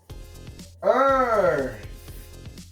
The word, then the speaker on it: Earth: The next one is Earth. Remember the pronunciation? This one you're going to blow your thumb like this. Earth.